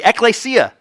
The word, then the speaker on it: ekklesia: Anybody remember how you pronounce it? Yeah, you guys are great. Good memory, ekklesia.